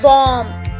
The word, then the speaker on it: bomb: एक और एग्जाम्पल देती हूँ मैं आपको, बॉम्ब, BOMB, बॉम्ब। तो बॉम्ब, इसमें भी M के बाद B आ रहा है, B के बाद कोई भी वर्ड नहीं है तो यहाँ पर B साइलेंट हो जाएगा।